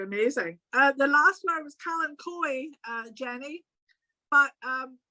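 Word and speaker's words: Kalanchoe: Kalankoi.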